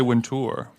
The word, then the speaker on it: Wintour: But I love how you say Wintour. Well, that's how you say it. It's like Louis Vuitton.